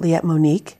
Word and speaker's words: Liette: the studio liet monic who has would you pronounce it let monique yeah i didn't know that you know i